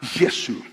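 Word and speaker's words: یسوع: Nadie se llama a Jesús y se pronuncia la palabra Yesu.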